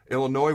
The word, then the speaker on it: Illinois: comes to the numbers, they're Illinois, where the S is silent, they're top 5 in all passing categories.